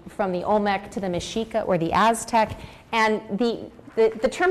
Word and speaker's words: Mexica: Mexica.